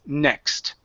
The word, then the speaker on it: next: is NE yeah so you added a vowel sound in between the K and the S sound so the word is next next good good so